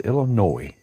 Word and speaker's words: Illinois: No S, Illinois. I guess us Southern folks use the S. But now that I know the proper way to say it, I'll start saying it the way it's supposed to be said. With no S.